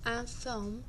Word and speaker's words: informent: Les journaux informent les gens de ce qui se passe dans le monde. Donc, lorsqu'on a un verbe qui termine avec un NT, d'habitude, on ne prononce pas le NT, donc informe.